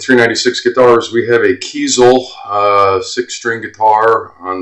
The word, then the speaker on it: Kiesel: zoom in a little bit yeah pretty neat Kel k i e s e l I'm assuming it's Kel I've been saying kaisel but a little bit of research says it's